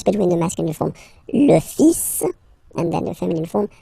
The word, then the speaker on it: fils: Okay, so it's le, and then even if you've got this L, well, basically you don't pronounce it, and then strangely you pronounce the final S. Le fils.